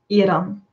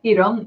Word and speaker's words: Iran: Did you, the guy who was talking about Iran said that he is surprised that I pronounce it the right way. Mm. But it's the same in Dutch. Iran.